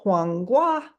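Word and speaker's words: 黄瓜: to combat other issues so it's hang Gua and that's how that's pronounced and I have the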